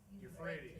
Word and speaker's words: Euphrates: Four angels on the how can I pronounce it? Euphrates.